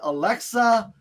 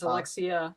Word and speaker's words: Alexia: william s quinning and alexa first of all first of all john it's alexia i don't work for amazon oh i'm so